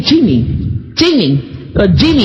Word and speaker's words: Cheemee: Jamie's not calling you cheap. He's saying Cheemee.